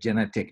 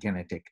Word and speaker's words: Genetik: saw genetic oh sorry oscar corrected me elliott actually pronounces it genetic not genetic uh but i anyway